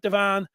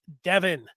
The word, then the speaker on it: Devin: Witherspoon is the pick I know it looks like Devon but he pronounces it Devin I'll get to him